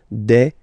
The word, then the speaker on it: des: at the end and as we said you don't pronounce it so you get de okay de so un